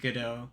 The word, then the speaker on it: Godot: For the record, I pronounce the name Godot because that's how it's pronounced.